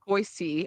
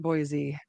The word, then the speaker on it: Boise: and people are like, "It's not Boise, it's Boise," and I'm like, "Okay, cool. Like, not a big deal, right?" But now I'm that way where people say it wrong, and I'm like, no, it's Boise.